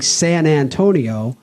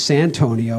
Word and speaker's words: Santonio: the spelling was correct because people were saying San Antonio and we knew it was Santonio and we couldn't figure out how to spell it.